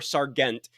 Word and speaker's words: Sargent: His last name is spelled slightly like more Sargent kind of a thing, but it's pronounced Sergeant Jim Sargent, and that's kind of